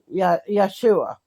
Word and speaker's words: Yeshua: was not his name his name was y yesu yes I don't know how to say it but it's Yeshua because Hebrew didn't Hebrew alphabet did not have a j back then so guess who changed